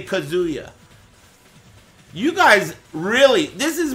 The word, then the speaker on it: Kazuya: and they go he's the commentators always say kazuo or kazuo you know main man's the only one that pronounces it right Kia well excuse me